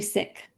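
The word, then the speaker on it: Sikh: Um, is the pronunciation sik or sik? It's actually sick.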